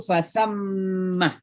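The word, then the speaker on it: فثم: Fa aina ma tuwallu fa thammah. Itu namanya gunnah. Nun dan mim kalau tasydid itu didengung-dengungkan membacanya. Fathamma ya.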